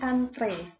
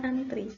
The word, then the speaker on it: antre: kake ih melainkan pakai jadi antre bukan antri tapi kita lebih sering menyebutnya dengan kata Amri Nah inilah yang dimaksud